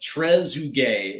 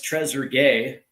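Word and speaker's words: Trezeguet: So, we have uh so here's the uh here's Shimu Vandu who's who says Tresugay is how it's pronounced. Why? I I appreciate that one. Uh or it's Treasure Gay.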